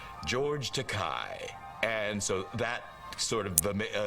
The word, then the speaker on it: Takei: Rhymes with okay, doesn't it? Okay, you're Takei.